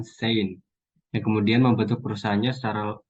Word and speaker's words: Shein: Kemudian nama perusahaan lebih dipopulerkan dengan Shein yang disingkat dan diucapkan Sein, yang kemudian membentuk perusahaannya secara lengkap 5 tahun kemudian.